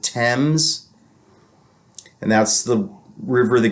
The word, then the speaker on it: Thames: It's Thames, but they pronounce it Thames.